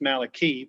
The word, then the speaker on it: Malachi: a covenant in the book of malachi actually pronounced malaki but that's all right and which means my